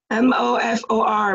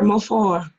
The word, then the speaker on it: Mofor: M-O-F-O-R, Mofo. Oh, okay, I'm glad. It's translated Child of the King in my dialect. The last R is silent in your dialect? Mofo, yes, that's correct.